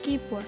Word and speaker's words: keyboard: juga disebut dengan otak komputer nah selanjutnya adalah keyboard hai tulisannya keywords kyle bor2ap dibacanya keyboard keyboard keyboard itu digunakan untuk mengetik